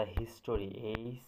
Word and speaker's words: history: কিন্তু একটা বানান রয়েছে যেটা হিস্টোরি, HISTORY। এই হিস্টোরি বানানটার উচ্চারণটা হবে হিস্ট্রি, হিস্ট্রি, হিস্ট্রি উচ্চারণ হবে। TORY, এই স্টোরি বাদে যে কোনো TORY, ট্রি ট্রি উচ্চারণ হবে।